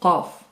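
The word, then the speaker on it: ق: Une nouvelle lettre emphatisée, le qaf, qa, qi, ko, qui est vraiment différente du kef, prononcé comme un K français, ka, ki, ku.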